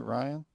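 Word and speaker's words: Ryne: I think Ryan yeah so you do pronounce it Ryan yeah it's Ryan Ryan Ryan anyway Ryan Samberg Hall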